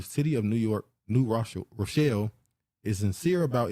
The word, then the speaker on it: New Rochelle: A 37-year-old man shot by police in New Rochelle. How you say that? I know how to say it. Is that I don't want to say Rothschild. It's Rochelle. Yeah, Rochelle.